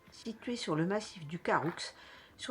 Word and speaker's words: Caroux: Enfin, du Caroux, ici, ils disent le Caroux avec le X qui est prononcé à la fin.